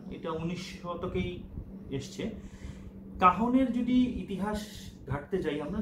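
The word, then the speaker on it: cajón: কাহন আমরা যদি গুগলে সার্চ করি তাহলে বানানটা অবশ্য CAJON কাজনের মতো করে লিখতে হয়, কিন্তু এর উচ্চারণ হচ্ছে কাহন।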